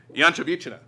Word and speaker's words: Ianchovichina: So my toughest task for the day is to pronounce Elena's last name, which is Ianchovichina.